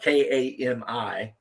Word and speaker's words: Kami: yeah yeah that's it even though it's spelled k a Mii but yes apparently Kami is a powerful spirit